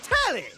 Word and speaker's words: Telly: The name's Telly. Rhymes with Nelly. Like, whoa, Nelly. Did you know Telly offers 5,000 channels like an endless deli?